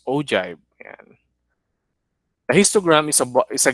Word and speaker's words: ogive: community frequency graph or agile pronounced ogive and a histogram is